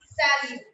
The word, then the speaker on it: salut: That is salut. S-A-L-U-T. Now, T again is silent. Salute.